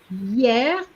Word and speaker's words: hier: The first one is hier, and the H is silent. Okay.